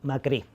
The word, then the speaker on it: Macri: Macri, con acento Macri. Macri, con acento en la I.